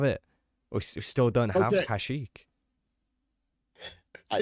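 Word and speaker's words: Kashyyyk: now here's the thing I will argue that kashik is the right way to say it because in Battlefront 2 the droids say kashik and if anyone's going to get the pronunciation right it going to be droids wow I don't know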